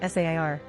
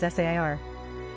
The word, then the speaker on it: Ser: the cast and crew, Ser is pronounced Sair. Actors usually say it very fast or slur it so it sounds very similar to the standard Sir, but this is not the case.